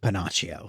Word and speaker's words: Pinocchio: It's pronounced Pinocchio.